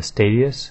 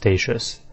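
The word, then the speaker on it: Statius: is PVP armor uh stadius is actually pronounced staus which I actually think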